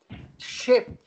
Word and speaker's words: ship: Então, aqui, the sheep, com dois E's, prestem atenção na pronúncia, the sheep. Você tá... Eu sei. Não faça. The sheep. The sheep é ovelha. Ship.